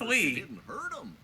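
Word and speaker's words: Lea: so it's like really awkward no it's just pronounced Le which is what makes it weird was that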